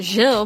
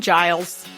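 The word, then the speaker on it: Gilles: saying raise and that's wrong at least you pronounced it jill because i've definitely heard other podcasts i heard somebody else talk about him before and they called him giles oh or guiles and it's neither i probably would have done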